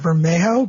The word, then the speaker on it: Bermejo: I pronounce it Bermejo, but I don't know. No, that sounds right. That seems like the Spanish way to say it.